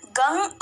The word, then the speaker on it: गं: भी आप ही हो गण के आदि अर्थात ग कर पहले उच्चारण करें उसके बाद वर्णों के आदि अर्थात अ उच्चारण करें उसके बाद अनुस्वार उच्चारित होता है इस प्रकार अर्धचंद्र से सुशोभित गंग ओंकार से अवरुद्ध होने पर आपके बीज मंत्र का स्वरूप ओम गंग है ग का इसका